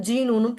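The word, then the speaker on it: GNU: ஜிஎன்யூ வந்து எப்படி pronounce பண்ண? ஜீனூன்னு ப்ரொனவுன்ஸ் பண்ணுறாங்க.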